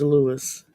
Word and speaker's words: Louis: His name is Lewis. L O U I S like Armstrong. Like Louis Armstrong, but we don't say Louie, we pronounce it Lewis.